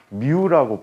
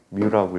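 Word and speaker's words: μ: 얘네들은 우리는 상수로 취급해서 미우라고 부르게 되는데 그랬으면 자로 뭐라고 미우라고 읽어 주시면 돼요 뮤라고 읽어주는데 뮤라고 표현해주고 나중에 이거를 마찰계수라고 불러요 마찰계수라고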